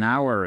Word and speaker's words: hour: là, vous mettez an hour ago. OK? Évidemment, il y a un espace entre les deux. She left an hour ago. Attention, hour, on ne prononce pas le H.